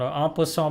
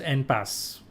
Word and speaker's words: en passant: But out here in India, you guys change the whole pronunciation. En passant becomes en passe.